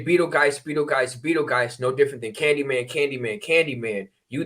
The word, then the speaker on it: Betelgeuse: So it's pronounced Betel. Betelgeuse. So and it's also to show the allegiance to a literal beetle and to understand the importance of the beetle.